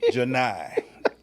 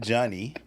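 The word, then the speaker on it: Johni: Janai. Not Johnny. Not Johnny. It's Janai.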